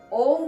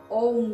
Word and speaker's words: ओम: उच्चारण होना चाहिए केवल ओम का तो ओम कैसे उच्चारण करना है आपको पहले आ बोलना है आ ओ मा ओम शब्द में आपको तीन अक्षर प्राप्त होते हैं आ उ और मा तो आपको सबसे पहले